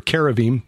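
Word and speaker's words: כרובים: And when you look at the cherubim or caravim, the Hebrews pronounce it, or the Israelis pronounce it that way.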